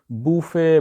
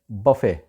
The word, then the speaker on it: buffet: ہے جی بفے، BUFFET۔ اب اس کو بوفے، بفٹ اس طرح سے بولنے کی ٹرائی کی جاتی ہے، لیکن اس کا اصل تلفظ ہے بفے، وہ جو کھانا ہوتا